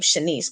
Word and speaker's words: Chenise: um so it's shenis um um that's my middle name Chenise but it's spelled c h n i c so it looks like chenice a little but yeah I'm